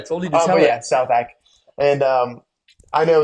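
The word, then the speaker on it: Southack: do you spell that it's s o u t h a c k so it's like South a yeah oh all right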